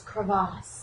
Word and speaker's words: crevasse: You didn't say it right. It's crevasse. It's crevasse.